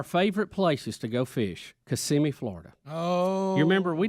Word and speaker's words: Kissimmee: Right, Kissimmee, St.